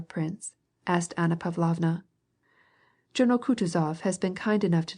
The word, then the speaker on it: Kutuzov: asked anna pavlovna general kutuzov has been kind enough to desire me as his aide to comp he spoke in french and accented the last syllable of kutazov's name like a frenchman elise votrefem she will